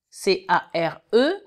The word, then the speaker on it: care: C-A-R, si vous prenez les mêmes lettres et que vous rajoutez un E, C-A-R-E, le A va se prononcer E.